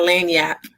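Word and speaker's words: lagniappe: We having our lanyap. Did I say it right? Lanyap. Yep, lanyap, right.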